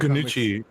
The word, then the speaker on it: Nucci: So in the Kanuchi, yeah. Kanuchi, yeah, okay. Or kind of you have to pronounce it like gnocchi, right?